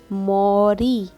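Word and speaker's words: 머리: Then री, मोरी. जब second syllable में होगा तो र प्रोनाउंस करना, और जो फर्स्ट में होगा तो ल.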